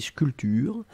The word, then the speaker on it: sculpture: Faites attention pour sculpture. Hein. Souvenez-vous, on ne prononce pas le P, on dit sculpture.